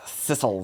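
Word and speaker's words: sisal: was in my brain I was picturing s y s c a l e like ciscle no I'm sorry uh do you know what that is if I say it correctly sisle sisle is um people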